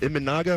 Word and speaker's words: Imanaga: Shogo, is it Imanaga? Am I pronouncing that right?